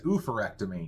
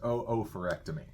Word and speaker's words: oophorectomy: we looked it up it looks like it says oophorectomy but apparently it's not pronounced that way it's pronounced oophorectomy and that is surgical